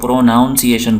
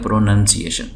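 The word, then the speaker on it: pronunciation: लज को हमारे यहां बहुत सारे लोग प्रोनाउंस एशन बोलते हैं प्रोनाउंस एशन स्कूलों में भी आप सुनेंगे मैं सब की बात नहीं कर रहा हूं बाज जगहो में आपको नजर आएगा प्रोनाउंस एशन तो यह लफ जाहिर है गलत है प्रोनंसिएशन तो प्रोनंसिएशन का मतलब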